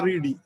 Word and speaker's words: read: എന്നിട്ട് അതിൽ നിന്ന് so sorry, read, red. Spelling is the same. There is no RED. You understand, but only the pronunciation, the change is there.